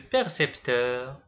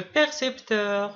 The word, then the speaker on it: percepteur: Quand vous remarquez, ces deux mots sont très proches au niveau de la prononciation mais il ne se prononce pas de la même manière. percepteur précepteur.